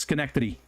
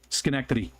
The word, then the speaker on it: Schenectady: neck titty because it's Schenectady Schenectady so I say skin I always tell people to pronounce it skin neck titty because then I get to say titty titty Schenectady Schenectady that's the second one